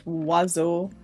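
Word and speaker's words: oiseau: have another conversation about bird in French which is wazaz which should be spelled w a z o but is not spelled with any of those letters besides a until not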